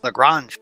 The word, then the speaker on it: Lagrange: looking at this technique it's called Lorraine's points Lagrange points there you leave that's the correct pronunciation I could be wrong no no you're absolutely right I just can't speak today so we're gonna go with Lagrange points on the graph whatever you said it